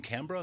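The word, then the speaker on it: Accra: although you're born in Ghana um in in CRA the capital city that's right am I pronouncing that correctly you are CRA okay very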